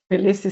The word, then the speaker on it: Tbilisi: How do you pronounce the university, Marina? Tbilisi State University, yes, correct.